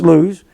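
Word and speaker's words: Luz: Jacob came to lose l u z it's pronounced lose which is in the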